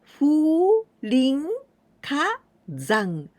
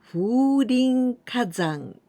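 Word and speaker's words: 風林火山: The first one, here we pronounce fu, but this is kaze. Kaze, it means wind. And the second one is this one, hayashi, right? The woods or the grove. And here we pronounce rin. And now this one, ka or hi. Hi, it means fire. And the last one, here we pronounce zan, but we can also pronounce yama, and this means the mountain.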